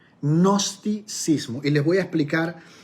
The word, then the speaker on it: gnosticismo: algo que se llamaba el gnosticismo se escribe con ge gnosticismo que les voy a